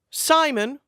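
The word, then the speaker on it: Psimon: then you also have Simon with a pee-pee you silent the P is silent and dr.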